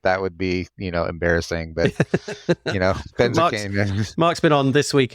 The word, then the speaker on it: Benzakein: I mean, if it were Smith, if my last name was Smith and you were mispronouncing it, that would be, embarrassing. But, Benzakein.